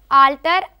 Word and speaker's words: altar: next two words are alter and alter oh very good two as we observing here the two words pronunciation is same but the spelling is different yes one is a